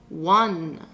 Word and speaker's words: one: Ça rime avec automne. Oui. One. On met le son W devant. One.